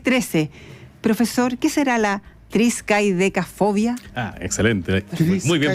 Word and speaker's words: triscaidecafobia: Profesor, ¿qué será la triskaidecafobia? Excelente. Muy bien pronunciado, además.